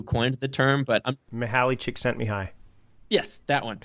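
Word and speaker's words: Csikszentmihalyi: the term but Mahali chick sent me high. Yes, that one. Just say chick sent me high.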